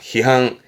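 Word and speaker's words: 批判: 희항, 희항. 판결이죠. 판결, 한케즈, 한케즈. 판사군요.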